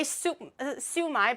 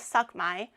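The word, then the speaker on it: shumai: Um, you might want to fix the pronunciation of that first. I'm not going to fall for it. Maybe fix the pronunciation and and say sumai properly first. Okay. It's not suck my Okay.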